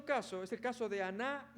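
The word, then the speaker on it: ἀνά: Se pronuncia así, aná.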